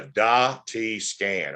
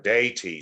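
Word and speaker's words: DaTscan: can figure it out, you would call this a DA-T scan or a DAY-T scan.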